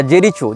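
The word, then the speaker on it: Jericho: इसने जेरिको या जेरीचो जो भी इसका उच्चारण उन भाषा में किया जाता हो जे ई आर आई सी एच ओ जेरीचो या जेरिको जहां तक जेरिको होना चाहिए उच्चारण ये फस्तीन का प्रांत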